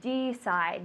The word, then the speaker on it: decide: is decide good so similar pronunciation but a little different D side not def D side tell me in English